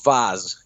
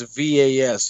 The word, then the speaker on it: Vaz: A lot of people call me Vaz in the UK, so they shorten it and it's VAS. It's Vaz. That's cool.